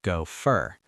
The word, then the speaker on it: go for: When native speakers say go for, it often sounds like go fur.